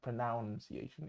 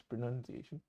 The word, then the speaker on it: pronunciation: correct pronunciation for example the word pronunciation it's not pronounciation it's pronunciation um of the word